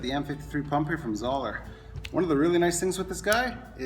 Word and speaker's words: Zoeller: You know what you're thinking, Tyler, it's not Zoeller, it's Zoeller. Well, I learned this past year it actually is pronounced Zoeller.